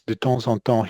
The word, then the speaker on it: de temps en temps: Another thing that kind of he swallows is this de temps en temps. He doesn't pronounce it as clearly as we might hope or expect.